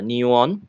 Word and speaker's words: NEUON: digital transformations so neon these names we pronounce as a new one new things is going